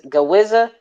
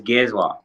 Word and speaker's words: Giezwa: chop it up again gee how do you say it because gawizza is gizwa gizwa okay guess why my bad